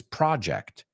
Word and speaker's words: project: It's not project, it's project.